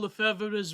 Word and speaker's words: Lefebvre: any of Archbishop Marcel Lefebvre's writings? I haven't read, I have to confess, I have not read Lefebvre's writings. Sorry, Lefebvre. That's how you say it, Lefebvre's. I say Lefebvre, Lefebvre.